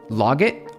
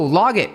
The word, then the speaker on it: logit: It's pronounced the same as the word logic. Just replace the C with a at with a t. Oh, log log it. Oh, log it.